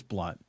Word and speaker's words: Blount: for all the audience my last name is pronounced blunt even though everybody in in Canada it's it's perfect it's spelled blout it looks like blout but it's it's blunt no need to be